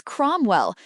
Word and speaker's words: Cromwell: Question 2 answer is Cromwell. Note ow sounds O.